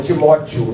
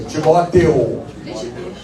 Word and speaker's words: Timóteo: Tem que ter a pronúncia certinha lá, né? Não é Timóteo, não. É Timóteo. Né?